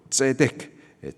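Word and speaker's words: צדיק: 없고 여기서 의인이라고 하면은 히브리식 발음으로 째득 재판에서 의롭다라고 선언된 자입니다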